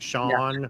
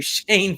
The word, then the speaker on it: Shawn: It's pronounced Shawn. Okay. Hey, all right. Okay. So I greatly apologize. We've been calling you Shane for how long?